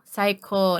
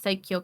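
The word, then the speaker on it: 最強: Saiko, not Saikyo, Saiko.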